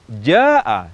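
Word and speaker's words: جاء: Namun secara uruf, kebiasaan baca Al-Quran yang benar, ja'a seharusnya diucapkan dengan panjang mad yang lebih dari dua harakat.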